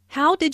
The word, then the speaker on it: how'd: question how'd your presentation notice the contraction for how did sounds like houge and your sounds like